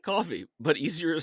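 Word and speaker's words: Ko-fi: __ ] you can pop on down to coffee it's spelled k fi which is why I was confused even though I've done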